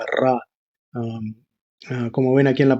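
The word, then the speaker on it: רע: las letras Ayin y Resh, lo cual se pronuncia Ra.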